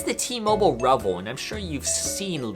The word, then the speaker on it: REVVL: right or not but it is pronounced rebel apparently rubp else it's in